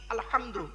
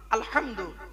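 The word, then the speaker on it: الحمد: ঝোড়া নিয়ে হ্যালো আরো দেখেন আলহামদুলিল্লাহি রাব্বিল আলামিন আলহামদু আলহামদু এই গলার ভেতর থেকে হেটা উচ্চারণ করবেন আলহামদু মানে হচ্ছে সমস্ত প্রশংসা আল্লাহ তোমার আলহামদুলিল্লাহি রাব্বিল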